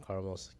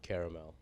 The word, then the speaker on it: Carmel: We pronounce my name like, and Carmel's Carmel, and not caramel.